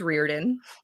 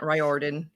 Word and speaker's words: Riordan: that way and then riordan is rearden not ryordan he's not the author